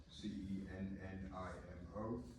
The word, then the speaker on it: Cennimo: My name is Senimo, Cennimo. C-E-N as in Nancy? N like November, yes, 2 N's. I am like Mike. Okay. And Mr. am I pronouncing it right?